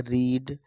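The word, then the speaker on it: read: फिर उसके बाद है रीड रीड रीड। पढ़ा जाता है रीड रेड रीड।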